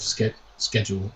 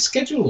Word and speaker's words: schedule: Is it schedule or schedule? This is one of those things because Americans say we say it weird. And we say schedule, I'm pretty sure, and they get weirded out because they say schedule. Okay. They don't, because there is a C in there, America.